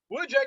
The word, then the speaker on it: Wujek: on the show the greatest number of times, Wujek. Wujek. I've heard so many pronunciations of that name.